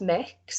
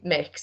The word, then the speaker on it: Mx: I think it's pronounced mix, so like Mix.